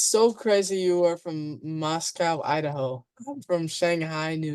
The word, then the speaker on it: Moscow: We call it Moscow up in Moscow. I think it's just because the way they pronounced it when they founded it.